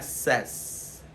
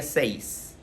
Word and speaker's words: says: Aquí cuidado, porque se dice say, pero se pronuncia says. says. No se diría seis.